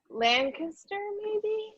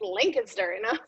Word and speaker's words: Lancaster: Well, no, because I lived in Pennsylvania for so long, and everybody's like, it's Lancaster, Like, Lancaster.